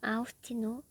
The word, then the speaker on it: 아우스티노: 성 아우스티노, 어거스틴으로도 발음이 됩니다.